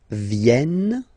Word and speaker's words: viennent: So you've got this double N just after the so it will change a little bit your pronunciation. You will have to pronounce this like okay? Ils viennent. So remember this classic ending ENT for the third person of the plural is here, but phonetically it doesn't exist, so you don't pronounce it.